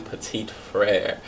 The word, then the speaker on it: Petit Frere: To keep the emphasis on strong pronunciation, the name is Petit Frere, which is also French.